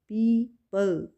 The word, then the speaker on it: people: पीपल, यहाँ पे ओ right करेंगे लेकिन यहाँ पे प्रोनाउंस नहीं करेंगे ओ को। पीपल, PEOPLE, ओ साइलेंट, पीपल, ओके।